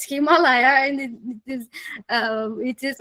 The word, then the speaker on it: Himalaya: local local pronunciations because we say it Himalaya and I said okay we but we are saying it Himalaya and it is it